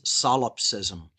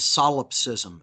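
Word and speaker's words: solipsism: termed the biggest lie is something known as salopsism. And I'll spell that for the listeners so they can go out and look this up and learn more about this very dangerous ideology. It's called salopsism.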